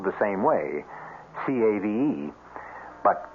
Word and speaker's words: cave: with a latin word spelled the same way c-a-v-e but pronounced cave it means beware our cast included